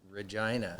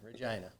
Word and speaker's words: Regina: And you guys are from a place that sounds like Vagina?